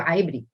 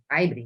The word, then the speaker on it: Ibri: amb el suc d'Ibri, un lloc que es diu Aibri, Aibri, així es pronunciem ara.